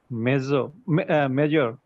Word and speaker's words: major: Major, Major, major.